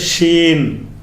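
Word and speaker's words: شين: ஒரு மூணு புள்ளி வச்சிட்டாங்களா அதுக்கு பேரு ஷீன் ஷீன் சீன் இது வடமொழி ஷா இருக்குல புஷ்பம் புஷ்பா அது மாதிரி வந்து என்ன செய்றது கிஷ்மிஷ் இந்த இஷுக்கு உள்ளதுதான் இந்த ஷீன்ங்கிறது இந்த ஷீன் வந்து உங்களுக்கு கரெக்ட்டாதான் சொல்லி தந்திருக்கறாங்க.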